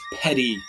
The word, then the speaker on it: petit: I know it looks like petit or petite, but it's petty, like P-E-T-Y, but that's not how it's spelled.